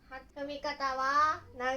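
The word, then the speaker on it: 長い: Nó có thể được đọc là "naga_i" hoặc "chou." Ví dụ về cách sử dụng "naga_i" là vẽ từ "長いかみ" và đọc nó là "naga_i kami", nghĩa là "tóc dài".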